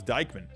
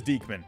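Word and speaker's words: Diekman: going on um oh it is deekman says the pronunciation right there there's my potato brain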